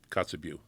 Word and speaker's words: Kotzebue: Kotzebue? Kotzebue.